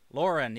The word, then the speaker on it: Lauren: Lauren, yeah, not Lorien.